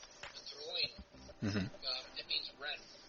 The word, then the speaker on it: Dreoilín: I guess the closest Irish pronunciation would be Dreoilín.